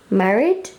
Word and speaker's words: Maryd: I'm going to pronounce this as Maryd.